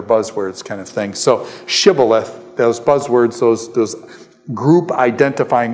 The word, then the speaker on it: shibboleth: So what I'm saying is when they cross here, he says, say Shibboleth, and they say Sibboleth.